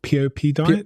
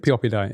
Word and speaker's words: Pioppi: And in much of your work, and I think in this book, I can't actually pronounce the word, Pioppi Diet? Pioppi Diet, yeah.